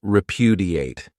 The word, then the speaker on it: repudiate: Another great verb is repudiate. This verb has four syllables and the stress is on that second syllable.